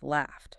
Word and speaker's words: laughed: Or laugh ends in F, becomes laughed. Laughed. T. Got it. Like a little puff of air.